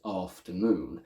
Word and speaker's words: afternoon: let's take the word afternoon the primary stress is on noon which we see indicated by an apostrophe before the syllable noon itself but also we can